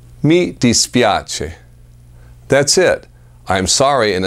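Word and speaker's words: mi dispiace: sorry in Italian it's very simple I'm sorry me dispiace meet dispiace that's it i'm sorry in italian sounds like this me dispiace me dispiace audible com search fro pose for discounts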